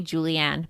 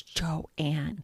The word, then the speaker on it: Joanne: people mispronounce my name they call me Julianne but I'm like it's Joanne where they get Julie a